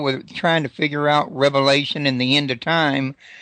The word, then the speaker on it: Revelation: which by the way you you pronounce correctly a lot of people say Revelations but there was only one Revelation to John um but yeah